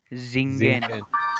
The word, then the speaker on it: singen: Singen. Singen. Singen. At the beginning, S is like Z, as you have been pronouncing Z. So singen, don't pronounce singen. Singen, Z, singen.